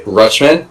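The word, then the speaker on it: Rutschman: Also had Atley, what do you say? Rushman. Is that how you pronounce it? Yes.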